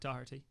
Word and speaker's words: Doherty: So I'm sticking with Wolves and I'm going for my compatriot Matt Doherty. Excellent. Notice the pronunciation.